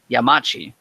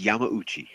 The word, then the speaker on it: Yamauchi: of Polyphony Digital, Kazunori Yamachi, has revealed. I hope I'm saying that correctly. Oh, wait. I know how to pronounce his name. Do it. Let me hear you. Kazunori Yamauchi.